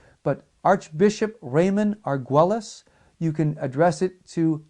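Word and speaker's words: Argüelles: Argues, we would pronounce it Argules. But Archbishop Raymond Arguelis, you can address it to Lipa Li Pa, Philippines.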